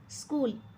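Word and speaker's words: school: एल खाली underline केली स्कूल स्कूल मध्ये एच चा उच्चार होत नाहीये म्हणून आपण एच खाली अंडरलाईन केली आहे सिरीयस सिरीयस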